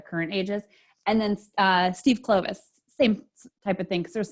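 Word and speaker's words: Kloves: me on the pronunciation it's not clothes it's Clovis so I'm just putting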